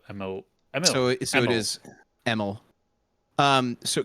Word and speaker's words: Emil: my God all right how do you say Emily but without the e at the end so ml so it is um